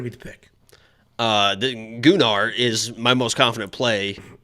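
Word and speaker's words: Gunnar: it's not doing our stop saying it is gular it literally is the Chad confirmed it it's gunar that's how you say it and they're just they're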